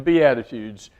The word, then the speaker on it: Beatitudes: it starts with Attitude the Beatitudes it's not spelled like attitudes it's a little bit different but it sounds a lot like it and they are attitudes